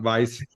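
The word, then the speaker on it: Weis: in German is is pronounced like a V in English so that's correct you're good um Vice that's that's the extent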